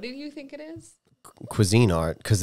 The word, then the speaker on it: Cuisinart: normally like 290 I think it was the quein art the problem it's the what Quin art isn't it Cuisine Art you say it like it's queasy it's a